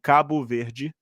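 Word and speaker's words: Cabo Verde: Yes, the name is um Kabu V. That's how you pronounce it.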